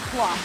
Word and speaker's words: plov: Today's star of the show is plov, rhyming with love, and trust me, it's a big deal in Uzbek culture and it's worth the hype.